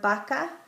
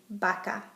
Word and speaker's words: vaca: B chica, V, has the same sound as a B. For example, in the word vaca, I say it as if it were a B, vaca.